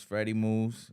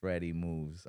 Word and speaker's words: FredEMooves: Well, my name is Freddy Moose. You know, contrary to how people want to u pronounce it because of the way it's spelled, it's Freddy Moves.